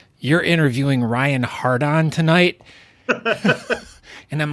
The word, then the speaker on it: Hardon: okay so I here with Ryan is it hard on or Harden it's hard in is how it's pronounced that's good because now the funny thing